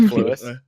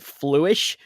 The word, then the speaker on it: Fluis: Fluis. It's like fluid, but with an S. Fluis. Well, he pronounces it fluish because of his dialect.